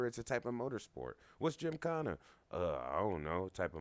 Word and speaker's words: gymkhana: GYMKHANA is spelled GYMKHANA. It's really like not like gym, J-I-M. But you say it like go to the gym.